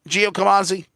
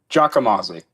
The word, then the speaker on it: Giacomazzi: So it's not Giacomazzi. The Gia is a little more long. It's a Giacomazzi. You don't say the A.